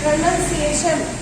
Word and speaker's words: pronunciation: तो प्रोनाउंसिएशन PRONUN पढ़ा जाता है, NUN पढ़ेंगे तब गलती नहीं होगी, लेकिन प्रोनाउंसिएशन अगर आप दिमाग में रखेंगे तो NOUN हो जाएगा, लेकिन वो प्रोनाउंस होता है।